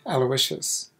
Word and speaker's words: Aloysius: name is aloysius the way we still pronounce my last name in india where i am from